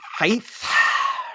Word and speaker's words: height: Please know the pronunciation has a hard T at the end. There is no H at the end except the very silent one.